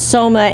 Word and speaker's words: Soma: That's right, Selma, yeah.